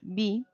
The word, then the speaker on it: be: El could se pronuncia así, could, y el be, así. La E, en este caso, se pronuncia más bien como una I.